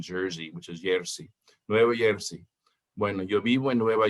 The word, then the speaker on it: Nueva Jersey: Most Hispanic people won't pronounce the J like we do in English. They'll pronounce it like a Y. They'll say Nueva Jersey.